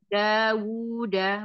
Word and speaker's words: دَاوُدَ: Afan Umi Ida tadi dikata wa ataina dawu-nya dua Umi bacanya satu harusnya dua dawuda wa dawuda dawuda zaburo za azza zaburo coba diulang dari wa ataina.